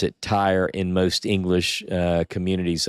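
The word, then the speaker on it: Tyre: te or Tire t y r e we pronounce it Tire in most English uh communities I've been part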